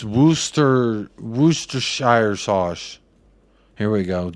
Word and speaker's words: Worcester: maybe I'll do that literally everyone in England calls it Wooster sauce Wooster woosta Worcester yeah you're right sent